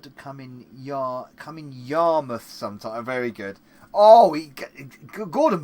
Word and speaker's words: Yarmouth: Well done pronouncing Yarmouth in the way you did, Novabug. Your mouth, yeah. Joke avoiding that, yeah. Yarmouth, your mouth, yeah.